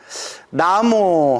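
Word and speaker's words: 南無: 나무하고 다 같은 뜻입니다 발음이 이제 원래 나무 이게 맞는데 한문으로 표기할 때 나무 남쪽 남 없을 무 남무라고 표기를 하게 된 거죠 그래서 귀합니다 공경합니다라는 뜻이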